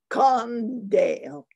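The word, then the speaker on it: kandeel: i have a detail it's called condale uh in dutch it's spelt k-a-n-d-e-e-l in that sounds like con c-o-n-d-a this is a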